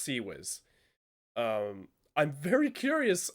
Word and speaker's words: CIWS: didn't get the same memo it is properly pronounced see Wiz heavy cloud pronouncing its CIWS in naval fleet